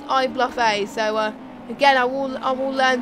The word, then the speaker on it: iBluffA: So it's not iBluffer, it's iBluffA.